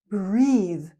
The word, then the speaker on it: breathe: The verb is breathe. Breathe. It has the long e sound. So we have the short e sound breath and the long e sound breathe. but also the ending th and the.